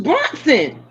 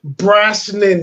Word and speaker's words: Brosnan: I thought it was Bronson. Are you no, that's Charles Bronson. But Charles Bronson. Pierce Brosnan, sir.